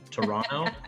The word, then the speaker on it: Toronto: sorry wait no toronto i'm not supposed to pronounce the second t right toronto i've been told uh and i'm here